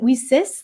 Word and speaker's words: WiCyS: but we pronounce it whis like we sisters because that's exactly what